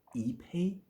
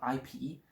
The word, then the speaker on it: ipe: I'm going to spell it out, I-P-E. You either pronounce it as Ipe. I don't think this sounds right. So I think it's pronounced Ipe.